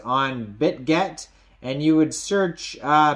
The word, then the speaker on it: Bitget: listed on bitgurt so you can download Bitcoin bit Gert which is spelled b-i-t or sorry B bit get sorry bit get uh from the Google Play